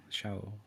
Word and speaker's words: chaud: Show. You don't call me Mom. Show. Yeah, show like hot is CHAUD, right? Yeah. I think it would be the same thing without the, the D is silent.